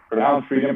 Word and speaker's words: FRDM: And Freedom, pronounced Freedom, but FRDM.